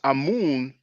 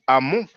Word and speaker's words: Amun: Actually, what you pronounce Amun in English, we pronounce it Amon in French.